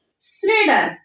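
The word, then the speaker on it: Schrader: discovered by श्रेडर श्रेडर श्रेडर की spelling है S silent S सी एच आर ए डी ई आर श्रेडर ने किया था ये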